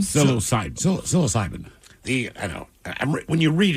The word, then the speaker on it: psilocybin: Psilocybin? Psilocybin.